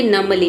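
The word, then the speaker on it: numbly: यहाँ पे जो है नमली में आप देख सकते हैं बी लेटर साइलेंट है। बी को हमें नहीं प्रोनाउंस करना है। एम के बाद बी आता है तो बी साइलेंट हो जाता है। इसे हम पढ़ेंगे नमली मतलब सुन होकर।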